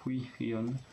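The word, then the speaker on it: Hwiyeon: Et ensuite, alors Hui Hyun. Alors celui-là, il est le nom peut-être un peu le plus compliqué à prononcer. Hui Hyun. On sent ça tire sur la poitrine.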